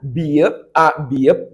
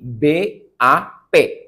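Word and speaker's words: 밥: maka bunyinya adalah p maka bisa dibaca b a bep bukan BAB tapi b a p kemudian rumus yang ketiga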